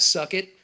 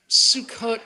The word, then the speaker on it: Sukkot: He comes up to me, even the way he pronounces it, what's that holiday you have, suck it? Sukkot, Russell. It's not how you say it.